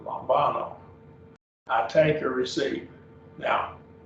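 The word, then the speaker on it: λαμβάνω: Lambano, 3 syllables, lambano.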